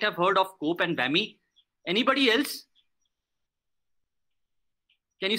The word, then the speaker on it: WAME: These include the Committee of Publication Ethics, which is known as COPE, World Association of Medical Editors, pronounced as WAME, the DOJ, which is the Directory of Open Access Journals, and Open Access Scholarly Publication Association.